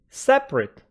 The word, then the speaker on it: separate: different different separate separate after P it don't have any vowel sound separate comfortable comfortable comtable comtable